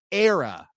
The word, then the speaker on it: era: he meant to say, pronounces it era, A-I-R, era.